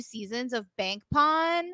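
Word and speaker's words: Pol: Because if you watch Superboy, Pawn's name is romanized for most of Superboy as P-O-L, but they call him Pawn.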